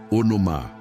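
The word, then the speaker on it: ὄνομα: Para aprofundarmos neste conceito de autoridade, precisamos conhecer a palavra grega para nome, que é onoma, se pronuncia onomá.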